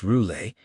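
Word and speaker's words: Roulet: The client's name was Louis Ross Roule, pronounced Roule, and Valenuela asked if he'd be there.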